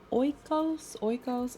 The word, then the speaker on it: Oikos: Got my blueberries and my Oikos. I think I saw on the Super Bowl commercial that's how you say it.